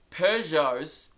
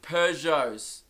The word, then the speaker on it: Peugeot: or last week, that Peugeots are not pronounced Peugeots. So fuck everyone for saying, oh, it's pronounced Peugeot, dickhead, Pugot. You know what it's pronounced? You want to know? The correct pronunciation is Peugeot. Yeah, I was still wrong, but I got the Pew part right. Just didn't nail the Jo. Alright? I went got instead of Jo.